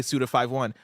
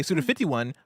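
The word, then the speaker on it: Suda51: never heard someone say Suda 5.1. I always used to say Suda 51, but then I got corrected. Apparently it is Suda 5.1 is how you say it.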